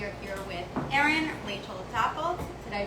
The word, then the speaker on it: Dopplelt: We are here with Erin, Rachel Dopplelt. Did I pronounce it correctly?